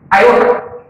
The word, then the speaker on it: iota: नाम दिया गया है i, which is actually pronounced as iota.